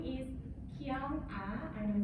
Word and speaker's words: KyoungAh: It's KyoungAh. And then it's like, maybe it's hard to remember too. It's like K, maybe I'm from South Korea. K, and then Young, maybe I look younger than my age.